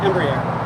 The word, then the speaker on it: Embraer: Embraer.